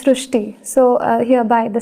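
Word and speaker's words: Srushti: So in Marathi, the word re is pronounced as ru. The word re is pronounced as ru. So that is why the pronunciation goes Srishti.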